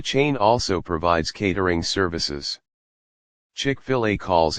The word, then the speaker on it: Chick-fil-A: chickfila Inc tkf chickfila a play on the American English pronunciation of filet is an American fast